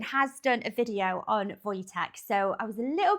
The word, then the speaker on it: Wojtek: So, this is I've Googled how to pronounce this name. So, this video is called The Story of Wojtek, the Polish military bear.